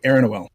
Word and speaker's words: Eronoel: It's Leonore backwards, so Eronoel.